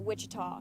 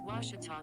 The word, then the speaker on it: Ouachita: at a baptist university back in texas everybody pronounces it wichita but really it's ouachita washington washington how would you pronounce it it's washita baptist university get it right it's watertall people